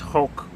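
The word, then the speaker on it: חֹק: All right, so it's pronounced Hulk.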